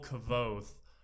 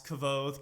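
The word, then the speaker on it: Kvothe: like everybody didn't know how to pronounce kavod cuz its kv o th e and their Cavalli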